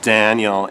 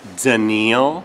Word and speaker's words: Daniil: My name isn't pronounced Daniel, it's Daniil.